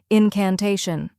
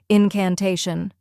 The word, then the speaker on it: incantation: which rhymes with say and is the stressed syllable finally shun which sounds like Shun in fashion now let's put it all together incantation try repeating after me incantation now a little faster incantation and at full speed incantation keep practicing and